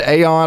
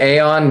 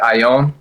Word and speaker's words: Ayon: So, I mean, most people pronounce it Aon, but a lot of uh of my Spanish teammates pronounce it Aion.